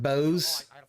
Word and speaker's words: Bose: It's pronounced Bose. Bosa.